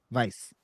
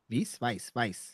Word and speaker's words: Weiss: Weiss. Weiss.